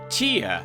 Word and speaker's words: Ptia: I thought it was P-I-T-A, like pita bread, which is delicious, especially when you put stew or soup in it. And it's called Ptia. I think the P is silent.